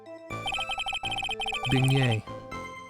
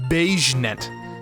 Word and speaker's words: beignet: Beignet. Beignet. Not beige net. I didn't say beige net. I said beignet.